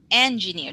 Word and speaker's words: engineer: Japan engineer enger engineer engineer the stress is on the first syllable engineer engineer engineer engineer